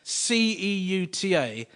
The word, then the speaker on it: Ceuta: It all started in August 1415 in a North Moroccan port city, which is spelt C-E-U-T-A, pronounced Ceuta.